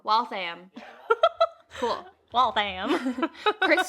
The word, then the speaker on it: Waltham: of waltham yeah yeah oh i said it wrong wealth i am cool wealth i am